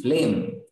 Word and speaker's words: phlegm: Its pronunciation is flame.